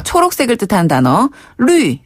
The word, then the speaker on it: 绿: 초록색을 뜻하는 단어, 루이. 네. 요게 이제 푸를 녹자를 루이라고 발음하는데요. 루이. 네. 요 루이 자는 위에서 아래로 뚝 떨어지는 발음이거든요.